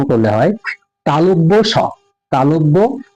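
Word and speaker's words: তালব্য শ: যে বর্ণটি দেখতে পাচ্ছেন এটার নাম আমি বলতাম তালভ আপনারা কি বলতেন জানিনা তবে আমি বলতাম তালব স আসলে এর নামটা ভালো করে উচ্চারণ করলে হয় তালব্য স তালব্য স আর এখন যে সটাকে দেখতে পাচ্ছেন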